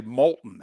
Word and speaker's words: Moulton: It's only because people would mispronounce my last name and so to get him to pronounce it correctly, I would just say molten as in lava.